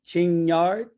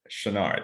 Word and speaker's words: Chenard: I say Chinyard. Well, since I'm French, you could say that, but Okay. it's the G silent, Chenard.